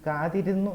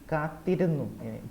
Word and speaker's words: കാത്തിരുന്നു: Except കാത്തിരുന്നു, it should be no. It is കാതിരുന്നു. It is not കാതിരുന്നു. It is കാത്തിരുന്നു. ഇത്ത. കാത്തിരുന്നു. കാത്തിരുന്നു. the The doubling or tripling is required.